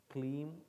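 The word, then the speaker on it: kleem: e m first write it down i'll then pronounce it for you have you written it krishnaya can you repeat after me om klim krishna yanama louder thank you okay give her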